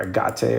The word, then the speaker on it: agate: This AGOT gray or agate or AGOT I think it's AGOT. AGOT is how you say it.